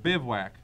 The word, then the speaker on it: Bivouac: Temur Bivouac. I'm not saying you're wrong if you don't pronounce it that way, but you're not right.